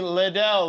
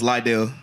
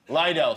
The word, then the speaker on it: Lydell: you're right and finally Liddell Liddell that's the right way to pronounce it no it's light deal Lydell sorry Lydell how are you it's